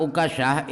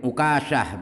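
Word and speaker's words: عكاشة: Kata-kata Uqasyah itu hanya dibaca dhammah, kafnya dibaca tasydid dan baca takhfif Uqasyah begitu.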